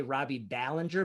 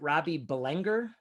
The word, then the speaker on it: Ballinger: I used to say Robbie Ballinger, but is it Robbie Belenger? No, it's Ballinger, but I thought it sounded way better.